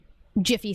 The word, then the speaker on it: Jif: butter sandwich for the jiffy peanut butter but it's not jiffy it's never been jiffy it's never had a name change to jiff it's just always been Jif peanut butter this is